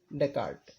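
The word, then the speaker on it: Descartes: उनका नाम है रेने डेकार्ट। हाँ, तो इसके जो प्यूनियर हैं इस ब्रांच के वो कौन है? Renee डेकार्ट। जब हम इसका प्रोनाउंसिएशन करेंगे तो एस को हिडन रखेंगे।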